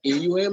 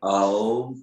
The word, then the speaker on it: Aum: A represents, when you pronounce A, your mouth opens up, A, vastness. U narrows down, your lips and your mouth narrows, U, to pronounce U, which is focus. And when you pronounce your lips are together, oneness, and it travels to your Saharara. And that is how it should be pronounced.